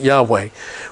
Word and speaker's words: Yahweh: vow of the hey in the father we pronounce it Yahweh when they came to that word in the